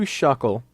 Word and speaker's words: Shuckle: and it is a team of mimic you shuckle yes you're saying it right it's Shuckle which